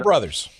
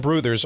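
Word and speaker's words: Brouthers: I mean, Hardy Richardson, Deacon White, Jack Rowe, and Dan Brothers. And Bruthers, and Dan Bruthers, yeah. Excuse me. These guys, yeah, Bruthers is how it's pronounced.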